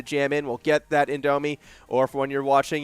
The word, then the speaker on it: Indomie: I always pronounce it wrong. It is Indomie.